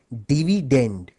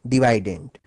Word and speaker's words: dividend: dividend by the way the correct English pronunciation of this word is actually dividend but since divident ranks better with divisor thus the students prefer to call it divident it helps them recall